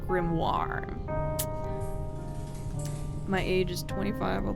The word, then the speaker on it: grimoire: the Grim okay so I always thought it was grimy but I think that's maybe because I watched a media some sort of media that like pronounced it that way like as a joke I think it's actually pronounced grimoire my age is 25